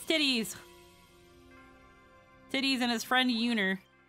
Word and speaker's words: Titus: was the time when they pronounced titus's name and everyone hated it oh yeah tetus so they won't question the changes yeah that's how that's how we we we had learned quote unquote that one of the intended pronunciations for it was uh was tetus and then everybody and by everybody I say uh freaking gesture proceeded to call him titties it's titties it's titties